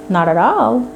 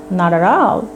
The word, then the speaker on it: not at all: American people say not at all, not at all. You know, not এর ঠিটাকে ডি এর মতো উচ্চারণ করো, অ্যাট এর ঠিটাকেও ডি এর মতো উচ্চারণ করো।